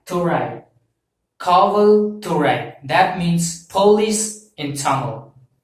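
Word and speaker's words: காவல் துறை: station, so that represents, so this police represents Kaval Thurai, K-A-V-A-L, Kaval, T-H-U-R-A-I, Thurai, Kaval Thurai.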